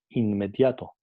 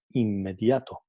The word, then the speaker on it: inmediato: Nosotros no decimos inmediato, decimos inmediato.